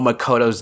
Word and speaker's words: Makoto: probably bring up that I know Makoto's name is pronounced more like Makoto but I'm more used to saying Makoto because of Danganronpa simply put his Makoto